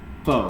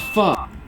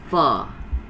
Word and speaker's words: pho: It's not pho, it's pho. It's as if you're saying but you remove the K.